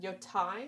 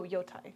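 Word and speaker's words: Yōtei: I learned and then forgot how to pronounce it. Ghosts of Tsushima. Go. what's the Yotai. word? Yotai. Oh, Yotai.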